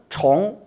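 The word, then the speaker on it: 重: 중국어 에서 는 발음 이 다르게 구분 됩니다 . 무겁다는 의미 일 때 는 "zhòng" 이라 고 합니다 . 중복 된다는 의미 로 사용 될 때 는 "chóng" 이라 고 합니다 . 음 . 그래서 "zhòng" 과 "chóng" 으로 구분 됩니다 .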